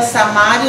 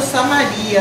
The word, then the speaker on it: Samaria: indivíduo natural da região da samária ou Samaria aí depende né da da pronuncio da da pessoa próximo a Jerusalém na